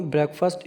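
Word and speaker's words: breakfast: के एफ ए ST mostly लोग इसमें गलती करते हैं इसको बोलने में ब्रेकफास्ट ब्रेकफास्ट जो व कहते हैं ब्रेकफास्ट नहीं होता यह ब्रेकफास्ट होता है ब्रेकफास्ट थोड़ा सा इसको जोर देक बोलना इसका जो सिलेबल है ना वह थोड़ा सा जोर देक बोलने वाला है ब्रेकफास्ट नॉट ब्रेकफास्ट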